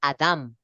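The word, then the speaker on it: אדם: Y precisamente donde está Adán con N aparece la traducción en hebreo en la pronunciación es Adam. Sí, con M.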